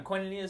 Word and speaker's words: koinonia: it right he can't pronounce koinonia so we'll pronounce it for him koinonia starts this sunday arnie safe is leading it